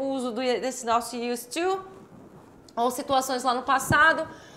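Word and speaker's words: used to: vamos lá examples of Us to in the present and past inclusive você não vai falar esse D você não pronuncia esse D você vai falar US to us to tudo junto US to Tá então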